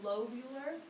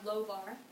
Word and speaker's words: lobar: And then we go to the lobular, or lobar, I always add extra syllables, bronchi.